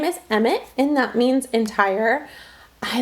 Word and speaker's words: Emmett: So yes, I love the name Emmett, and it flows off the tongue, Emmett, and it's a 2-syllable just like the other boys.